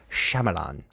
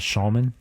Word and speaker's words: Shyamalan: By M. Night Shyamalan. It's not Shaman.